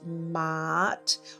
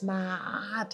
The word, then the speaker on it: Ma'at: They will call it Ma'at or something like that. It's Ma'at, it's here.